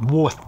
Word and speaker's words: Warth: the right pronunciation Northwick Warth w a r t h not Warth as in what we come across on canals but what an important